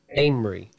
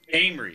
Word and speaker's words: Amory: Amory. Amory.